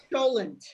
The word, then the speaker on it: cholent: Cholent is, if you say it like the old Yeatles, shul end, that's where they got it from. It's cholent, but in English, if you transliteration, it's CHOLENT.